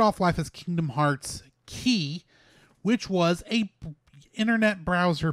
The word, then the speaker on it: χ: as Kingdom Hearts key that key is with an ex is spelled with an X it is the because that character that we look at that looks like an X is actually the Greek letter key since Keys come up